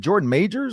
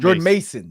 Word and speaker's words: Jordan Mason: so I'm pretty sure Jordan ma is it Jordan major or how do you say his name Jord Mason Jord Jordan Mason Mason Jordan Mason probably got picked up on